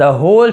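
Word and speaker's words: whole: वह समझ गया, क्या समझ गया, द होल situation, the होल, होल यानी पूरा, डब्लू को यहाँ पे साइलेंट होता है, WH में डब्लू ज़्यादातर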